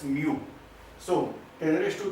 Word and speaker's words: mu: This is the Greek letter and we are pronouncing it as mu.